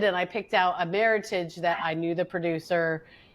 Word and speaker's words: Meritage: And I picked out a Meritage that I knew the producer. and it was a small producer. And I said, when you order it, make sure you say Meritage, Not which Meritage. rhymes with heritage, not Meritage, which it's